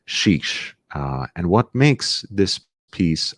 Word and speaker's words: Chiche: I'm sure they have their legitimate reasons, but to my understanding, it's not chic or sheikh, because this is a different word.